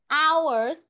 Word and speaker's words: hours: Hours. Có vấn đề gì không con? Hour. Chữ H này là âm câm con ạ. Nên chúng ta sẽ không đọc chữ H để lên.